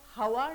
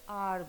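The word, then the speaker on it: hour: एच जो है इधर ये एच जो है ये साइलेंट है हम इसका साउंड नहीं नहीं करते देखो जब हम हवार नहीं बोलते आर बोलते हैं तो इससे पहले ये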